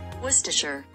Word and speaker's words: Worcestershire: go we're gonna get worcestershire say that again worcestershire so you don't even say like the worst worcestershire